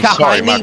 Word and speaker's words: Hind: Michael Hind, by the way. That's how you say it. Michael Hind. Yeah, it's like Hindy without the Y. It's Hind.